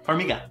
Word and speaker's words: Farmiga: And I mean, do you ever think that it's weird for the Farmiga sisters, did I pronounce that right? Yeah, Farmiga.